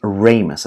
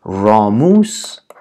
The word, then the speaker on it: ramus: این کلمه است ریمای البته تلفظ درست از این کلمه به نام ریمس است. راموس کاملا اشتباه یا کاملا غلط است از لحاظ لاتین.